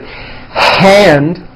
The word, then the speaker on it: hand: Now this may not pertain to you, but many foreign speakers tend to drop that air sound when a word begins with the letter H. For example, instead of saying the word hand, they would say and, like my right and.